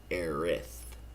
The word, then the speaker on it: Aerith: And this is where we meet AERITH for the first time. It's a very controversial thing. It's actually spelled AERIS in this game, and the pronunciation is AERITH.